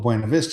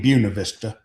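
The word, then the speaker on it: Buena Vista: They named it with the German or the Spanish name because they like the look of the name but then mispronounced it.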